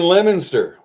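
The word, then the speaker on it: Leominster: uh early 80s from 1980 to 83 that's where I saw Warren Zeon in concert out there in Lemonster. Most people do not even know how to pronounce that word when they see it because it's spelled Leo Minster and Mile from Barnes.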